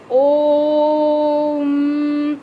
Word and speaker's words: ओम: लुप्त स्वर जैसे ओम, ओम का उच्चारण करते हैं तो इसमें बहुत लंबा समय लगता है बोलने के पर।